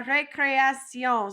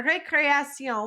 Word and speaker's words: récréation: We're going to say ré, then cré, then action.